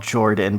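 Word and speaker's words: Jorphdan: channel called okay so it's called Jordan but it's spelled Jo are PhD am cuz I think his thing is that the pH is silent I see yes I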